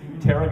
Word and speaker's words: Toronto: she's a native Toronto notice how I pronounce that correctly terara got her starred in